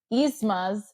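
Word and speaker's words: Yzma: New Groove episode when McKenzie kept mispronouncing isma's name isma's name well it's isma and she sent me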